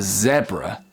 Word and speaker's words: zebra: So in British English, it's called a zebra.